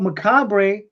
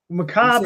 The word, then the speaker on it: macabre: But macabre is how they pronounce it in Britain. Ah, okay. Yeah, macabre is how we pronounce it.